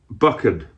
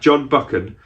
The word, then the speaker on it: Buchan: was originally written by john buckin i think you say it like that john buchan but this has been